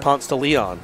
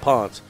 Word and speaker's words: Ponce de Leon: it's called in atlanta so if you wanted to pronounce it correctly constantly all they'd be like I don't know man that's Ponce no more most people just call it ponts but it's ponce de leon and my mom from